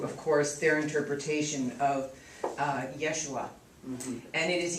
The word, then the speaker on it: Yeshua: So, what was interesting about my revelation in this was Catholicism brought me to, of course, their interpretation of Yeshua. And it is Yeshua.